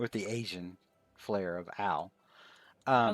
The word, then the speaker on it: Ao: some people literally pronounce Lord Ao, but I've always thought it was meant to be pronounced with the Ow. Asian flair of Ao.